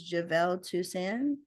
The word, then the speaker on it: Jivel Tousand: Well, my name is Javevel Tusan.